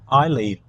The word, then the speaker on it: Eildon: I learned today, Lorraine, was that Eildon is pronounced Eileen. Eileen. That's the correct Oh, is pronunciation. that the Scottish pronunciation? Scottish, yeah. I think we'll stick with Eildon though.